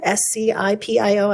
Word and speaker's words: Scipio: valley diamond valley elkridge hennifer i'm gonna completely mispronounce this scepio s-c-i-p-i-o i don't know how to say that scipio